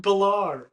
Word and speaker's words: Baller: His last name is Baller? Yeah, it's pronounced Balar.